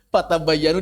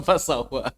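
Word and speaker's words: فتبينوا: Fatabayanu dibaca fasawa. Karena banyak gerigi. Bukan geriginya sin itu. Geriginya ta, ba, ya, dan nun itu. Fatabayanu fatatabatu. Banyak orang yang baca fasawa.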